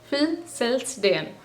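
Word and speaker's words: fødselsdag: फिलसेल्सडेन. F-U, उसके बाद जो D है वह एक सॉफ्ट डी की तरह आपको प्रोनाउंस करना है. सो फिलसेल्सडेन.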